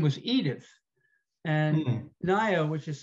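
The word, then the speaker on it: Ngaio: like i guess um uh let's see um nayo marsh i think is very good uh her name her first name was edith and naya which is spelled n-g-a-i-o is a maori word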